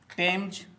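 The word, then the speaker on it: Thames: शब्दों का प्रोनाउंसिएशन करेंगे और अंत में इसके स्पेलिंग पर बात करेंगे। तो दोस्तों, चलिए शुरू करते हैं। You repeat after me. टेम्ज टेम्ज, टॉमस टॉमस, टन टन, टोनेट टोनेट, टॉमसन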